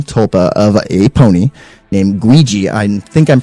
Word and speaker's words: Guigi: This was a college-age student man who created a female tulpa of a pony named Guigi. I think I'm pronouncing it right. Ouija? G-U-I-G-I, like Luigi with a G.